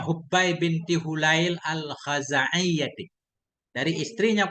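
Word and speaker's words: حبى: Bacanya Hubbai binti Hulail al-Khazaiyyati.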